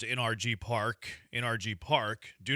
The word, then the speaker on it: NRG Park: Junkie says NRG Park, home of the Houston Texans, is pronounced by spelling out the letters NRG Park. NRG Park. Do not pronounce it as the word quote energy or energy.